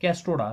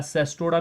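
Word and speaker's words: Cestoda: कैस्टोडा, CSTODA, कैस्टोडा आप pronounce इसको करें, या सेस्टोडा भी कुछ इसको प्रोनाउंस करते हैं, सेस्टोडा और कैस्टोडा।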